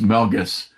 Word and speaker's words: Melges: So I know it for sure it's Melgus and I pronounce it correctly.